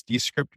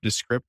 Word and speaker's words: Descript: the answer to that we purposely have left that ambiguous because we take great joy in which way people go when they pronounce it so you can use either all right the script